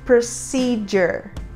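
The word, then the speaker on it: procedure: Aviação e significa procedimento nós falamos por Sider aqui a letra D vai ganhar um som de J logo em seguida dela a letra U ganha um som próximo de que seria mais ou menos o nosso a com acento circunflexo e no final nós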